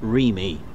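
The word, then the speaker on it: REME: got that right then he also learned that it's you pronounced Remy for the Roy Engineers sorry for all electrical and mechanical engineers uh Remy didn't know you pronounce it like that mind you Remy isn't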